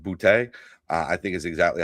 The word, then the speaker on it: Boutte: You just said his name exactly correctly, because he is from Louisiana, and the fact that you said Boutte, I think is exactly how you're supposed to say it.